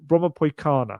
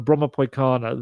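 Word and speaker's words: Brommapojkarna: such a long word, Bromma Poikana. I think the J in it is pronounced more like a Y, someone told me. So Bromma Poikana, their academy, they have like 4,000 people or players within it.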